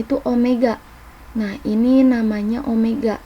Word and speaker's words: omega: Omega nah ini namanya Omega biasanya ini Omega tulisannya kayak W ini tapi dibacanya Omega Omega itu adalah kecepatan